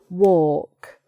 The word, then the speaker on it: walk: And finally, talk, walk. These two words in themselves are strange because you might think it should be pronounced talc and walk, but it's not.